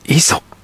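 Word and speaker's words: 五十: 五十と書いて、磯と読む、あの磯。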